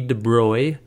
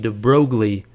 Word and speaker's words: de Broglie: named Louie de Bry now it looks like you pronounce this Loui de brogley and that's what I always said I always read this and I said de brogle in my mind and I knew that wasn't right if you look it up